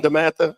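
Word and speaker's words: DeMatha: god wears blue or what do y'all say? Damata. One damatha. Yeah, one damatha.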